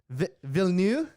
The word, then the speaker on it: Villeneuve: Villeneuve.